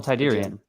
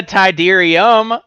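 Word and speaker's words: Tydirium: Moon of Endor shuttle tidan yeah yeah say it say it correctly what is the shuttle tidan tidan that's what he said that is incorrect what what is the tyderium Get Wrecked that isre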